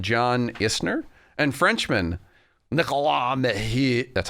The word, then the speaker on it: Mahut: American John Isner and Frenchman Nicolas Mahut, that's how you say it, had to stop their game 2 times because night fell.